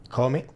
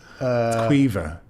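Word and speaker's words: Caoimhe: How would you pronounce that name? Call me. No, it's a good attempt. Have you come across it? It's Quiva.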